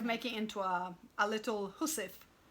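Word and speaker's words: hussif: into a a little hussef hussef is um a little kit for your needles you're you're sewing your your your it's spelled h-u-s like housewife it's like Old English or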